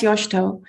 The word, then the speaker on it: Yoshito: they recognize, oh, that's Yoshito. So the I is not pronounced, and you put the accent on the first vowel on O.